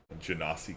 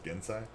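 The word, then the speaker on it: genasi: like uh drummer pirate gennasie queen or gensai i've heard them prefer to pronounce gensai which is pretty cool basilisk um you know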